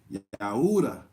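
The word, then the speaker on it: Yehudah: Judas yeah who doesn't there was no Jay Yoda is how you pronounce Judah with no Jay and while Dean is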